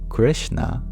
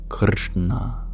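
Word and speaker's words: कृष्ण: The SH is an approximate for the retroflex sh, which sounds very similar to the English sh, but it's pronounced very differently physically.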